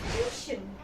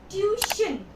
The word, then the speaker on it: tuition: The correct pronunciation is tuition. Tuition. The word is tuition, not tuition.